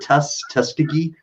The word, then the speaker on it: Tuskegee: like always saying it wrong how do you pronounce it tuskegee okay thank okay you don't know if i